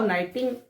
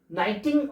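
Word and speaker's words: knitting: Viewing और नाइटिंग के यहां पर साइलेंट है। के एन I double T आई एन जी नाइटिंग और विनिंग विंग विविंग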